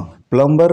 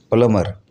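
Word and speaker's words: plumber: प्लम, प्लम्बर नहीं होता, प्लमर।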